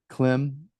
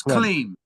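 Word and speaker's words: Klim: and Ukrainian singer producer clim aulov did I say that correctly I butchered it a little bit there Gary it's it's clean CLE okay and I'd love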